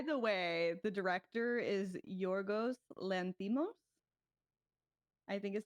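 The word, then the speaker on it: Yorgos Lanthimos: Oh, by the way, the director is Yorgos Lantimo.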